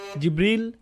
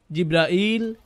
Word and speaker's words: জিব্রাইল: জিব্রিল, জিব্রাইল, জিব্রাইল, জিব্রাইল, জিব্রিল, এই পাঁচভাবে তার নাম উচ্চারণ করা হয়।